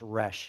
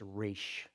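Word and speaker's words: ריש: it a little extra it's not it's not pronounced resh it's rish with a y so that's a race mem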